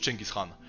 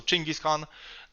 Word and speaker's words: Genghis Khan: that's how actually people say it in polish ching is khan so um let's stick to the mongol pronunciation so ching is khan and um this is a strategy strategy on